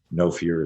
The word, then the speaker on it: Know Fear: Again, for those of you on just listening to audio, No Fear is spelled KNOW, fear.